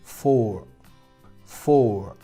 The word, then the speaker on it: for: Recordar que en inglés británico no pronunciamos las R's cuando van detrás de vocal. En inglés americano sí pronunciarían esa R, pero en inglés británico lo que hacemos es que la omitimos. For.